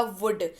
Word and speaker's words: would: पढ़ते वक्त एल जो है वो साइलेंट हो जाएगा, इसको उच्चारण किया जाएगा वुड।